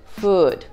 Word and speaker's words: food: Например, в слове «good» звук краткий «у», а в слове «food» звук длинный. Good food.